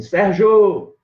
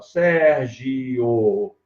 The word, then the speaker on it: Sérgio: Eu normalmente digo assim, quando a pessoa está com muita pressa, ele fala assim, Sérgio! Aí ele pronuncia junto. Mas se ele não está com pressa ou quer brigar com a pessoa, ele fala, Sérgio! Aí eu hiato. Então, as duas pronúncias são corretas.